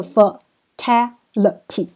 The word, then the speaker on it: fatality: 话，这个 fatality，你知道它的重音在第二音节，那这个是一个 fatality。